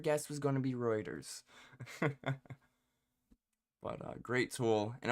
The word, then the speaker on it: Reuters: but mainly from uh Rooers writers, forget how to pronounce it. want to say Rooers, but um Reuters. Rooers, right? Reers. Reuters. Oh, so close.